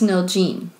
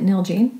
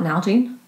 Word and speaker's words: Nalgene: molly's trail name was neil gene is how you say it nail gene it's not nalgene nalgene i think it's